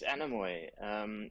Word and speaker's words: Anamoy: Firstly, please give me the right pronunciation. Is it Anamoy, and where does it draw its inspiration and meaning? Yes, it's Anamoy.